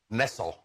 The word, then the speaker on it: Nessel: I've got one for you today, although I don't know how to pronounce her name. Dana Nessel? Is that it? You're a Michigander. Nessel. Wayne, was it? Nessel.